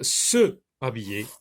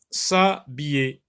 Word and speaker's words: s'habiller: Est-ce qu'on peut dire se habiller? Est-ce qu'on peut dire se habiller? Oui, mais il y a un H muet, donc on va supprimer le E et ça va devenir s'habiller.